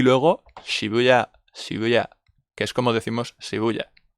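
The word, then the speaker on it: 渋谷: Y luego Shibuya, que es como decimos Shibuya. Nosotros siempre lo pronunciamos como Shibuya. Por las normas de acentuación en español siempre decimos Shibuya, pero es Shibuya. ¿Ok?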